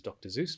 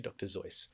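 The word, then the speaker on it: Seuss: of dr zoice right a lot of people mispronounce it as dr zeus but it's actually dr zoice right and i'm a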